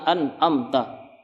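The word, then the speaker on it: أَنْعَمْتَ: Jadi yang benar adalah an'amta. Yang sampai nunnya mantul. An'amta. Jangan. Nah, tapi dia disempurnakan. An'amta, masukkan ke hidung.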